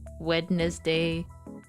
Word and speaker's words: Wednesday: I can't believe Wednesday is the only day not spelled how it's pronounced. Monday, Tuesday, weddness day, Thursday, Friday, Saturday, Sunday.